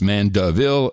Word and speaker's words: Mandeville: Pronounced Mandeville.